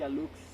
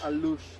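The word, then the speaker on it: alux: in english or spanish the pronunciation will be a looks but in my language the egg sounds like an so will be a luche that's right this little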